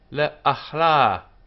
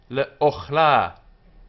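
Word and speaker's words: לְאָכְלָה: Lahem yihyeh, le'achla, for food. Le'achla, le'ochla, for food. Le'ochla. This is a kamet katan here, closed syllable, unaccented. Le'ochla.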